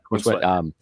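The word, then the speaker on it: Corenswet: Is it Corn Sweat? Is how you say his name? Yep. Corn Sweat.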